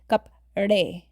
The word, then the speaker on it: कपड़े: So it's kapde. It's not re, it's kapde.